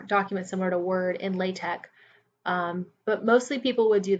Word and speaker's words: LaTeX: Okay, moving on to what is LaTeX. LaTeX, sometimes pronounced LaTeX, is a markup language to typeset documents, and most specifically, it's used in the mathematics community.